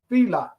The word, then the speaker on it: Fila: say the same thing it's Fela f i l a so I say and